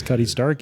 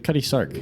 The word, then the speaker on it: Cutty Sark: Was not expecting Cutty Sark. that. Huh? Sark. Sark. Yeah. Oh, sorry. No. Can't even pronounce it right. No. I feel like a lot of people don't know about it. Why did I think it was Stark?